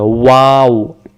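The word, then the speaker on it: واو: বলি ওয়াও অক্ষরটা দুইটা ঠোঁটের মাঝখান থেকে হবে ওয়াও এখানে বলেন তো ওয়াও ওয়া অক্ষর বলতে কোন জিহ্বা লাগে না দুই ঠোঁট থেকে উচ্চারণ হয় গলা থেকেও না ওয়াও ওয়াও বলার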